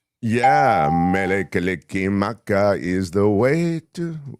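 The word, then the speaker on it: Mele Kalikimaka: Mele kick maka. Yeah. Mele kick maka is the way to how is the what's the lyric?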